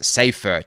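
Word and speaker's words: Seyffart: quickly and see so how you pronounce it is safeer yeah okay James safer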